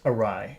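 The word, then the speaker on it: awry: me write it so the spelling looks very difficult but the way that you pronounce it is just like this arai ay aai and when something goes arai that means it goes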